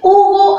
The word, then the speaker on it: Hugo: se escribe así, sino con la consonante H, que es muda, y luego escribimos la vocal, y esta es la forma correcta en que se escribe U.